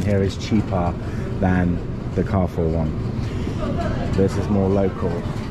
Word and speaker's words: Carrefour: Steve said that it's pretty much the same as Carrefour. He corrects me and says it's pronounced Carrefour, which I still disagree with. It's definitely Carrefour, right?